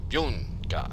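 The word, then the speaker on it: Byunga: I know that was originally written Korean, but it's not by Yunga, it's Yunga. B-Y-U, Yunga.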